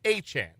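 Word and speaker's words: Achane: Travis Achan. Uh, that is how it is pronounced.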